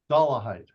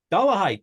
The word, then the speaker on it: Dollahite: asked you at a time how do we pronounce that dollah height dollah height dollah height who was with a group